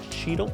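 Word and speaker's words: Cheatle: Secret Service uh Kimberly cheel cheel is how you pronounce that I guess um she's a Biden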